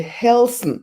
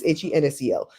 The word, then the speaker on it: Hensel: The Helsen, I said it wrong, Helsen. This might be wrong too. I think somebody typed that wrong. I think it's Hensel.